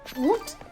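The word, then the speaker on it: août: u t is pronounced oot. Okay. So in that case the a is just silent.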